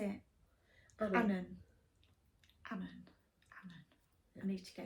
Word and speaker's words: Annan: Now, my Auntie Liz says I'm saying it wrong, but I can't remember how she pronounced it. So let's see how you think it should be pronounced. Annan. Annan. That's what she said.